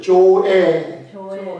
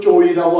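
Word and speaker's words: ζωή: 조에. 영어 발음이 어떤 분은 조이라고 하고 조에인데, 우리가 영어 발음대로 읽으면 조이라는 생명은 이 땅에서 없는 생명이에요.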